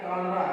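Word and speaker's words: cholera: ठीक है, क्या हो गया, कालरा।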